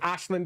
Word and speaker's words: Aislinn: And yes, I'm going to reiterate, I pronounce it Aislinn because it is Irish name, and when you lift stuff from other people's cultures, you should at least be sensitive enough to pronounce it correctly.